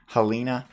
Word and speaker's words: Helena: this girl Helen Helena Helena how do you pronounce this name Halina okay so this girl she is the religious